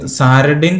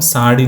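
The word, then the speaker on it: sardine: fish മാക്രിൽ fish അതേസമയം സാഡിൻ എന്ന് പറഞ്ഞാൽ ശരിക്കും സാരഡിൻ എന്നാണ് നമ്മൾ നമുക്ക് സ്പെല്ലിങ് പഠിക്കാൻ വേണ്ടിയിട്ട് സാരഡിൻ എന്ന് വേണമെങ്കിൽ പഠിക്കാം എസ് എ ആർ ഡി ഐ എൻ ഇ മറ്റേ ചാള മത്തി എന്നൊക്കെ പറയില്ലേ ആ ഫിഷ് ആണ് അതിന് പറയുന്ന ഉച്ചാരണം സാഡിൻ എന്നാണ് സാഡിൻ സാഡിൻ സാഡിൻ സാഡിൻ spelling സാരി ടിന്നിൽ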